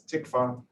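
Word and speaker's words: TCFA: up with discussion of thin-cap fibroatheroma which i will pronounce from now on as tikvah take a look at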